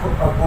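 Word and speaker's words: Aufbau: पहले तो इसमें था तो कौन से इसमें अप टू AUF BAU principal, अबू principal के नाम से बोला जाता है। एफ साइलेंट होता है अबू प्रिंसिपल।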